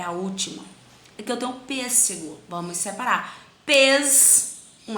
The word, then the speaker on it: pêssego: Aqui eu tenho pêssego. Vamos separar. Pês. Um S vem para essa sílaba. Sé. Apenas um S nessa outra, tá? Pêssego. Cadê a sílaba tônica? Pês. Então, a sílaba tônica é a antepenúltima.